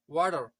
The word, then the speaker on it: water: अगर मैं वाटर को प्रोनाउंस करूं ब्रिटिश इंग्लिश में तो ये है वोटा, वोटा. अब अगर मैं राइटर को प्रोनाउंस करूं ब्रिटिश इंग्लिश में तो ये है राइटर, राइटर. डू you understand me? अगर अब मैं इन दोनों वर्ड्स को अमेरिकन इंग्लिश में प्रोनाउंस करूं, सो the first one इज वाटर, वाटर, एंड the second one इज राइटर, राइटर.